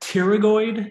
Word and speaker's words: pterygoid: the lateral pterygoid process the word pterygoid you don't pronounce the p theory means wing so